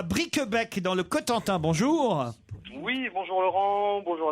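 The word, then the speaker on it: Cowtentin: Cotentin qui s'écrit C-O-W-T-E-N-T-I-N.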